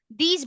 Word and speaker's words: these: But if you're going to make them into plural form, somehow this word sounds z.